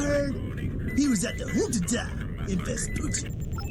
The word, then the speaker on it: Junta: Last I heard, he was at the Junta in Vespucci. Wow, I'm surprised they pronounced Junta correctly.